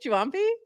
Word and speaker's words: Juampi: Juampi. With Juampi. Like a Juan. Okay, Juampi.